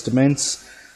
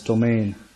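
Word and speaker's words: Demesne: This one that I pronounced in a previous episode as Demence, I've been told is pronounced as Domain, so there you go.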